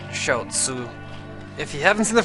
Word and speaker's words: Xiaozi: It's Micole Verszi or I think he pronounces it Shaoo.